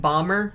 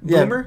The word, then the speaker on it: Bomer: You were talking to me earlier, you said Matt Bomer? Boomer? Yeah, Bomer. Matt Bomer. I always mispronounce it.